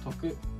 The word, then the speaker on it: ておく: something for future convenience and telugu is sometimes pronounced as toku because of contraction so that's it for